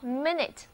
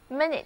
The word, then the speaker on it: minute: 得到了分钟，念作 minute minute。